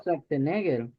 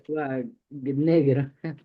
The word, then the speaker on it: Schwarzenegger: Schwarzenegger. Sí. Entonces, en idioma Deutsch, esto se pronuncia como Schwa.